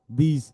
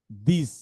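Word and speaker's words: this: Function ওয়ার্ডগুলো যে দা, দিস, that, দিজ, দোজ, দেন, দেন, দেয়ার, এগুলো হচ্ছে ফাংশন ওয়ার্ড। এগুলো শুরুতে দ হয়। আচ্ছা, এখন আমি পড়ি। এটা হচ্ছে দা, দিস, দ ইজ দিস, দ at that, the ইজ।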